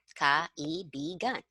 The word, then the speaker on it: kaibigan: Okay, whenever you see two vowels next to each other, you have to pronounce both. Okay. Like this, to, o. Probably one belongs to the other syllable and the other one is on its own, like totoo. Okay.